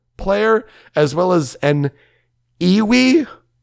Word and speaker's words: EWI: EWI stands for Electronic Wind Instrument, and it kind of looks like oboe-ish, but it's electronic, and I guess it's pronounced iwi.